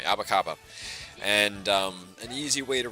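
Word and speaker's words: apa kabar: I'm sure you know about the shoe store abakaba. It's literally, I'm not sure if it's spelled the same way, but it sounded the same way, abakaba.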